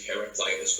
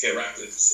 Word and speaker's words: Heraclitus: Americans say Heraclitus, but for me it's Heraclitus.